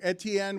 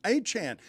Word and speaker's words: Etienne: We've all been saying his name wrong. Etienne, we've been We have not been calling him Achan.